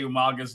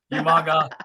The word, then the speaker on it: Umaga: Remember how he used to say Umaga's name wrong? Umaga.